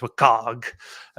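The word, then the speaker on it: WCAG: I I WCA I I always pronounce it as wag so w um like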